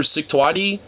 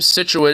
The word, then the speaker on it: Scituate: It just sounds like you're cutting yourself off from saying situation.